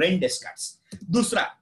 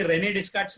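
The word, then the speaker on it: René Descartes: वैसे ही प्रोनाउंस करो, first one इज रेन डेस्कार्ट्स, इसको कोई रेने डेस्कार्ट्स नहीं पड़ेगा, इट इज रेन डेस्कार्ट्स, वापस बोल रहा हूं, क्या बोल रहा हूं, रेन डेस्कार्ट्स।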